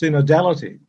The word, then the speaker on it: synodality: considering the idea of, I think it's pronounced synodality. Mm-hmm. I think that's how it is pronounced.